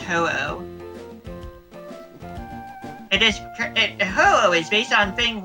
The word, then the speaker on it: Ho-Oh: It's H-O-U-O-U. Oh, yeah, well, H-O. It's an H-O, then a U, then an O, then a U in Japanese. Ah. For the kana. Hmm. Which is, of course, pronounced Ho-Oh.